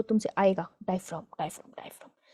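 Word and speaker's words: diaphragm: अभी देगा तुम्हें वो क्वेश्चन जो तुमसे आएगा, डायफ्राम डायफ्राम डायफ्राम। मैं पहले डायफ्राम को डायफ्राग्राम बोलती थी, काफी बेइज्जती के बाद मुझे पता चला है कि प्रोनाउंसिएशन गलत थी।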